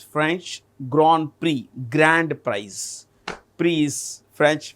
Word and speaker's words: Grand Prix: We pronounce it as GR. It's French. Grand Prix.